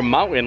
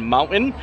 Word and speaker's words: mountain: Also, you guys impressed that I've been really pronouncing the T in mountain? You know, it's hard for me to actually say it the proper way because I usually say mountain. I don't say the T, and I'm trying, I'm saying it, mountain.